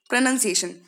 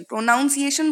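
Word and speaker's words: pronunciation: प्रोनंसिएशन, तो प्रोनंसिएशन जो होता है उसमें होती मिस्टेक ये है, PRONOUN, नाउंसिएशन, प्रोनाउंसिएशन बोलते हैं कई लोग और वो लिखते भी वही हैं, तो इसीलिए मैं बिल्कुल मना कर रही हूँ, प्रोनाउंसिएशन नहीं होता, प्रोनंसिएशन होता है नन, ओके, NUN।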